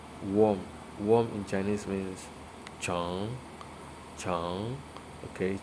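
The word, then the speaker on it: 虫: Worm in Chinese means chong. Chong. Okay, chong can stand for anything that is long. So chong, chong, chong. You can see rising tone.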